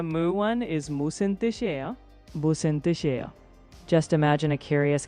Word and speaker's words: 무슨: For 무슨, think moose in, like a moose entering a room.